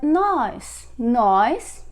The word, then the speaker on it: nós: Notice that with this accent we pronounce nós, stronger, more open sound.